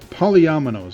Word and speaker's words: polyominoes: Polyphemino? Polyminos? Recognizing. Result document. So let's read the little block underneath it. By Solomon W. Golomi. Polyominoes. Polyominoes, yeah. I was trying to think of how to say The that.